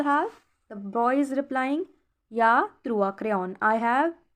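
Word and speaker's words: j'ai: Ya means, this is J-A-I, it is pronounced as ya.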